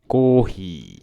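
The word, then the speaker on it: コーヒー: Coffee. Café. Button play. Kohi. Coffee. Kohi. We talked about this in the Blank.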